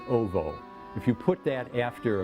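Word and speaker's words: -owo: There's a suffix in Polish, O-W-O, pronounced ovo.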